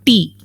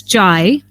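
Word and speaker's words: 茶: Now, in Mandarin, which is one of the largest spoken languages in China, the word is pronounced as chai. But in another dialect, which is spoken along the coastal areas of China, it is pronounced as te.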